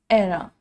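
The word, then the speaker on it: era: एरा। कुछ बच्चे इसको ईरा ईरा बोलते हैं। The correct pronunciation is एरा।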